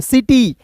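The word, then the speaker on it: city: क्या आया आई आया तो सी का उच्चारण हम लोग स के रूप में करेंगे आई है तो इ के रूप में टी ट और अंतिम में अंतिम में क्या दोस्तों वाई है तो इसका उच्चारण ई के रूप में सिटी सिटी मींस क्या होता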